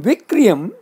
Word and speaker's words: vikriyam: Note, in vikriyam, kri is hrasva, means mutable. Vikriyam with kri dirgha would be from dhatuhu vi plus kri, then would mean syllable. Better be careful both in pronunciation and writing.